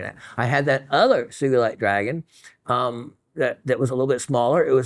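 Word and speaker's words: sugilite: found along with the sugalite yeah Kenichi Sugi in 1945 discovered it in Japan it was a hard G it's one the most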